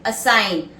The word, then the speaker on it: assign: Assign, A-S-S-I-G-N, where the G is silent. Assign.